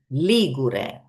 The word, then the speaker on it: Ligure: Instead, the adjective is Ligure. The stress is on the first syllable.